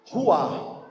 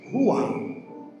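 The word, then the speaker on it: רוח: hebraico o nome do Espírito Santo, ele é Ruá. É assim que está lá no Antigo Testamento, Ruá.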